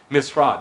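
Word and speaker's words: משרד: but if you say the proper way to say it is mishrad they still have this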